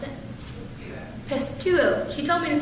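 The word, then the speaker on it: πιστεύω: And that Greek word for believe is, please pronounce it, pistuo. She told me to say pistol duo, and I said, I get up here and say that. Anyway, pistuo, and it's basically the meaning of that word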